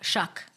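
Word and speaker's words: Shough: Shuck. Shuck. It rhymes with f- word.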